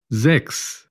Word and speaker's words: sechs: CHS al final de una palabra como X, como el número 6, sex, sechs, sex.